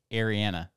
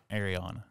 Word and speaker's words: Ariana: me when we met he said it's Ariana not Ariana yeah um okay so